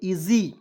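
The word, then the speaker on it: easy: स लिखेंगे इ देखिए यहां पे एस का उच्चारण ज के रूप में और अंतिम में वाई आया उसका उच्चारण बड़ी के रूप में क्या पढ़ेंगे इजी ठीक है एच ए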